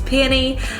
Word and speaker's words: peony: then we have peony it's spelt peony and yes I did have to look up the pronunciation on YouTube but it is peony the next one is